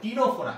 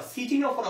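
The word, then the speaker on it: Ctenophora: একটা সিতে হচ্ছে টিনোফোরা, এটা কিন্তু আবার সিটিনোফোরা উচ্চারণ করিল না, উচ্চারণ কি? টিনোফোরা।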